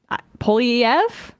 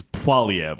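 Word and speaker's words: Poilievre: Republicans and treat Pierre PF I hope I said it right this time like they do the cfpb I think it's you're it's PV I'm pretty sure PV I took a semester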